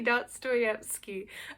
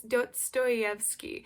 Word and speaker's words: Dostoevsky: I couldn't say Dostoevsky. I'm pretty sure that's how you say it. My dad, I was like saying this to my dad after, and he was like, it's Dostoevsky.